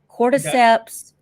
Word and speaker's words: cordyceps: they refer to it as okay I can't pronounce this chord chord it's CBI c-o-r-d-y seps cordyceps brain infection it's um called CBI and they